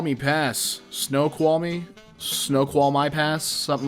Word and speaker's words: Snoqualmie: Snow qual me? Snow qual my pass? Something like that. Snoqualmie.